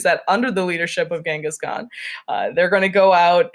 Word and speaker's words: Genghis Khan: Eventually, one amongst the various clans, one Mr. Genghis Khan, or Genghis Khan, which is another way I've heard it pronounced.